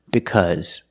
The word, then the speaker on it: because: The AU is pronounced with a short sound, like cup, cut, and up.